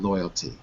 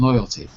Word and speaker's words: loyalty: want to talk about loyalty you see I want to talk about royalty ah maybe there's a little issue here with this with syllables too how many syllables in loyalty three exactly say it again loyalty